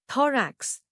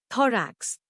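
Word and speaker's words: thorax: थरेक्स नया लफ्ज थरेक्स इसको तोड़ते हैं दराक्ष जोर दो पर है टी एच ओल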